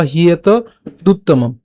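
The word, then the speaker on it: হ্যেতদুত্তমম্: সো উচ্চারণটা কেমন হচ্ছে? ভক্ত ওসি মে সখা চেতি রহস্যং হিয়ত হিয়তদ উত্তমম, অথবা হিয়েত দুত্তমম।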